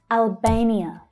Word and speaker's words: Albania: Albania. Albania. Notice that the stressed syllable is the A, as in day vowel sound.